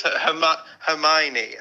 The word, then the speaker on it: Hermione: It's Hermione. Oh, Hermione.